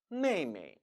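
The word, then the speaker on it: 妹妹: 위해서 충북 한 표현으로 발음은 원래 mama mama 입니다만 이 역시 우애를 막고 편하게 발음 하기 위해서 뒷부분을 경성 처리 해 주죠 따라 읽어 봅니다 메이메이 국내 이미 2 잘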